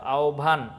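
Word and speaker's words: আহ্বান: যাব 13 নাম্বারটা হচ্ছে হব হলে হবের উচ্চারণটা হবে ও প্লাস ভ এর মতো ঠিক আছে আচ্ছা ফাইন তো উদাহরণটা দেখো আওভান আওভান এই যে হ এর সাথে ব আছে হ এর সাথে ব যুক্তবর্ণ আছে তখন হবে আওভান ভয় ভ এর উচ্চারণটা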